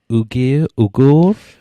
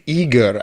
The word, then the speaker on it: Uyghur: Uyghur. I think it's Uyghur, actually. Uyghur. I think it's rather eager. I think the U is pronounced Uyghur. Uyghur.